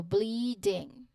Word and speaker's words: bleeding: bully, it creates a sustained sound followed by a softer letter D sound in ding which is a suffix. So bleeding. Bleeding. So you can think of s of the sound your vocal cords make for a prolonged e as in c and then smoothly transition to the ding sound, the suffix sound, ensuring that the d here is not harsh.